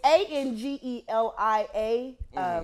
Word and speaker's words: Angelia: Spell that Spell for it for them. me. That's how they'll get that. It's Angelia.